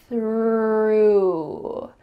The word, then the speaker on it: through: Through. It sounds like I threw the ball. This is the past tense of throw.